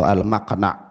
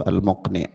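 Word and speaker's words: al-muqni': Wal di sini apa ada sebagian membacanya dengan mqna atau almaqna ada yang membacanya dengan almqni yang lebih tepatnya itu almqni itu sama-sama berasal dari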